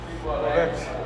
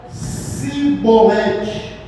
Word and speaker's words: Chibolete: Chibolete. Chibolete. Porém, ele dizia o quê? Veja bem, a exigência que eles pronunciasse a palavra chibolete, porém ele dizia cibolete, porque não podia pronunciar assim bem, porque não podia pronunciar assim bem.